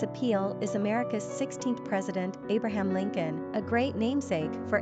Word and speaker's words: Abraham: Quick facts on Abraham. Gender, boy. Origin, Hebrew. Number of syllables, 3. Ranking popularity, 183. Pronunciation, AY-brä-ham. Simple meaning, father of a multitude of nations. Characteristics of Abraham.